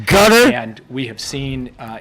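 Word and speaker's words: Qatar: course were communicating with Hamas through this it's pronounced Gutter and we have seen uh Israel take some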